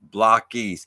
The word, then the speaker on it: Blokees: Love Blokees, pronounced Blokees. See, I wondered that because there's like BLOKE would be bloke, and then there's an ES. I feel like it should be. I feel like for Blokees it should be like Blockees, but I didn't know how they were pronounced honestly.